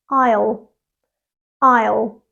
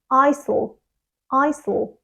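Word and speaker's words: aisle: would say something like Isel Isel but it's not two syllables it's just one syllable and it's pronounced I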